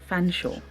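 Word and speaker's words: Featherstonehaugh: That's how you pronounce Featherstone Hall is Fanshawe.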